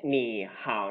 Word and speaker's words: 你好: ตัว แรก นะ ครับ ตัว คำ ว่า นี่ เนี่ย จะ ผัน ไป เป็น เสียง ที่ 2 เพราะ ฉะนั้น ตัว นี้ จะ ออก เสียง จาก นี่ ไป เป็น หนี นะ ครับ อาจ ไม่ ใช่ หนี